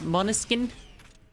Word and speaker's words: Måneskin: This is Måneskin, which is how you say it in Danish.